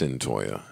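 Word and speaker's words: Cyntoia: think we should do a podcast without highlighting Centoya Brown's release. Mm. I'm getting her name correct. Yes, Savon. Centoya. See, that's why I like Savon. Pronunciation. He on his shit now. No, it's Centoya.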